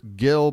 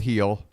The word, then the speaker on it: Gil: named Brian heel so I've heard Gil pronounced but that sounds like an American trying to pronounce the name I'm going with heel Lis heel is on